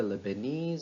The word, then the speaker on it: Lebanese: as we learned earlier a stress falls on these suffixes so this sentence sounds like this the Vietnamese trainee volunteered to help the Lebanese and Chinese refugees the Vietnamese trainee volunteered to help the Lebanese and Chinese refugees talk about the rhythm of